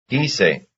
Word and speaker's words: quise: Lago, quise. Yes, they have the same stress. It's on the first syllable.